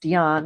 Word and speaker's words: Dion: Well, the reason why my name is pronounced Dion is because it's French.